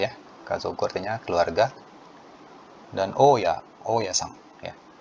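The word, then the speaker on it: 大家: Dan oya-san, ya. Kanji dai dan kanji iye. Ya, oya-san ini artinya bapak pemilik kontrakan atau bapak kos-kosan atau ibu kos. Itu bacanya oya.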